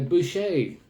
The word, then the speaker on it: Boucher: had the wonderful Jillian uh Boucher as she pronounces it I call her Belcher Julian Belcher but no it's Julian Boucher from Cape Breton who